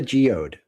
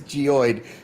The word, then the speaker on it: geoid: Well, thank God for the geode. You know what I'm saying? Just to be clear, it is geoid. He is mispronouncing. He's using a different term.